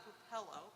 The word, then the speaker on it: Pupillo: Could you please pronounce or spell your name for? Sure. My name's Pupillo, P-U-P-I-L-L-O, from Deaconess Faith Community Nurse Ministries, and